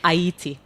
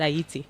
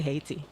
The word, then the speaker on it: Ayiti: were the first black republic in the African pronounce it. Aayiti. Okay. So people in Aayiti pronounce it Aayiti. They don't say they don't say hatiti.